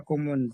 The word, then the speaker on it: komme: بص، احنا قلنا ان حرف الاي ده لما يجي في نهايه الكلمه ما تنطقهوش ولا تنطقه اي، اشكومي ولا اشكومه. لا مش ولا اي، كومه. اشكومه. تمام. اشكومه.